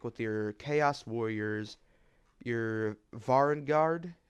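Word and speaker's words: Varanguard: But the normal Slaves to Darkness aesthetic with your Chaos Warriors, your Varangard, if I'm pronouncing that correct, Varangar, I believe that's how it's pronounced.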